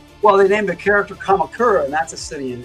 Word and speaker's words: Kamakura: And I am probably butchering the pronunciation of Kamakura. Uh, but generally they pronounce all the vowels. So, Kamakura, I think that's right.